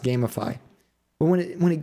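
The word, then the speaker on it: Gamefy: i think it's gamify it's like g-a-m-e-f-y and i think it's supposed to be pronounced gamify but when it when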